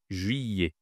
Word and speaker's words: juillet: Ici, en fait, ce n'est pas les tu ne prononces pas le L. Ce n'est pas juillet, c'est juillet. Juyet.